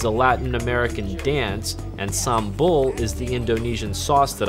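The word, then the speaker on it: sambal: that goes with the meals and I was mispronouncing it for 3 months before I was corrected I was calling it Samba I was told in a light-hearted manner that Samba is a Latin American dance and sambul is the Indonesian sauce that I was eating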